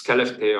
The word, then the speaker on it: Skellefteå: Swedish colleague, but I cannot myself make myself pronounce. So it's Skellefteå or something.